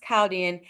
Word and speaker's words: Chaldean: But in this specific ancient society, the Caldian society, they they didn't acknowledge that H. Okay. So, it's pronounced Calaldian.